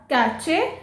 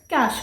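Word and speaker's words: cache: सो इट्स नॉट कैचे, इट्स कैश memory.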